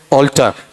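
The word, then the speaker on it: alter: एल टी ई आर दोनों क्या है होमोफोन है दोनों का उच्चारण क्या है ऑल्टर ठीक है ऐसा बताया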